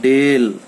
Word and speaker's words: del: ये डेल pronounce होता है, इसका प्रोनाउंसिएशन क्या है? डेल, DEL, डेल। ठीक है, डॉल नहीं है, DEL है ये, DEL।